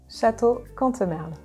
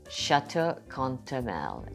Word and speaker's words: Château Cantemerle: She's the general manager of, it's the pronunciation time of French. Okay, how do you say the winery? Château Cantemerle. Château Cantemerle.